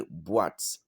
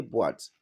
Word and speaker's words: boîte: Because when accent circonflexe is on the letters like e, o, and then u, okay, normally, you don't feel them, they don't play any major role because without them you can pronounce the words.